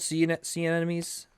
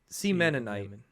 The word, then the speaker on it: sea anemone: Sea anemones? Semen anemones? Sea anemones. Sea anemones? Sea anemone. Sea anemone. Sea anemone. Sea Mennonite.